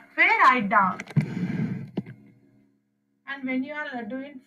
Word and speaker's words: dos: And then you have do, do, do is back. Do. No, you are not pronouncing S there also. You are not pronouncing it as dos. It's do.